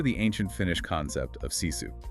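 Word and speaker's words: sisu: Consider the ancient Finnish concept of ciu. It's pronounced ciu.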